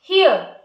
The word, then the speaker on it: hear: हमें बोलना है हियर लास्ट का आर लगभग लगभग सुनाई नहीं देना चाहिए हियर और हियर मींस सुनना